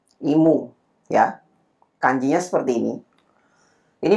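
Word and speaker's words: 忌む: Ini bacanya imu. Imu ya.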